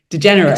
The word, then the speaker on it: DeGeneres: So Ellen DeGeneres.